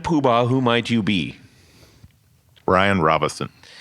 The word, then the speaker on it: Bryan Robison: Bryan Robison. Yes, without an N.